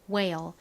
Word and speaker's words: whale: whale. 가장 앞에 이중자음 WH는 W가 가진 우 소리 혹은 H의 히읗 소리가 나는데 여기서는 W의 우 소리로 쓰였죠. 우 소리와 ALE의 ale 소리가 합쳐지니까 우ale, whale, whale, whale이 되죠.